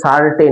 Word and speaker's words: certain: এটা কিন্তু সার্টেন নয় বাবা, সার্টেন নয়, সার্টেন মানে নিশ্চিত, এটা CERTAIN, কি বললাম? এখানটা দেখিয়ে দিচ্ছি, CERTAIN, এটার উচ্চারণ হচ্ছে সার্টেন, এটা মানে হচ্ছে নিশ্চিত। আর যদি বলি CURTAIN, এই কার্টেন মানে হচ্ছে তোমার পর্দা, বুঝতে পারলে?